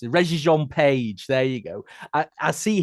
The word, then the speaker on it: Regé-Jean Page: I can never pronounce it. Regé-Jean Page.